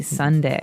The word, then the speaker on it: sundae: So, as you can see, the word is uh pronounced exactly like the day Sunday. Uh but it has a different spelling in the end. S u n d a e. Sunday, right?